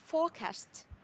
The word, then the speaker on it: forecast: Nó chỉ có hai âm tiết thôi ạ.